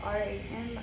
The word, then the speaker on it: Ram: It's spelled R-A-M but pronounced with an A sound. Ram.